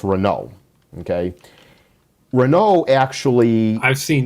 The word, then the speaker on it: Renault: a french company called renault it looks like renault but it's pronounced renault okay renault actually i've seen that picture before